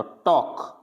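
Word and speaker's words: talk: Next है K से पहले, किससे पहले, K से पहले L आ जाता है तो टॉक, टॉक पढ़ेंगे। वॉक, फॉक, यानी L नहीं पढ़ेंगे, ऐसे नहीं पढ़ेंगे टॉलक, वॉल्क, फॉल्क, यानी टॉक, L क्या रहेगा, साइलेंट रहेगा।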